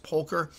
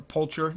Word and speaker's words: pulcher: Again, and I would say an alternate to this would be the Salmopoeus pulcher, or poulcher, I've heard it pronounced both, I believe it's poker, but which are a